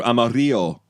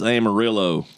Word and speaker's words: Amarillo: That's uh Amarillo. Uh I one time I was like I I I had gone through Amario and they're like it's Amarillo. Yeah.